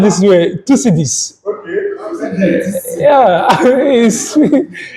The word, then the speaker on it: Thucydides: Oh, well, let me just pronounce this way. Thucydides.